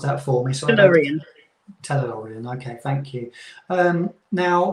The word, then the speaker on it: Tellurian: Do you want to pronounce that for me? Tellurian.